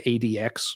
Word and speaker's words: ADX: I'm pretty sure it's just supposed to be Addicts, but I always tend to say ADX because they actually spell it out that way.